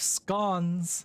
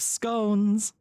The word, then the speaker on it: scone: I have scon. Actually, no. We're in the Midwest, so she would say it like an American. I have scones.